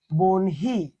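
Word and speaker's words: বহ্নি: এটার উচ্চারণ কি হবে বলতো? বনহি।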